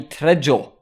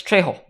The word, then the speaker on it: Trejo: but turns out it's trejo because you know you don't me you don't pronounce the j's in spanish anyway i'm gonna stop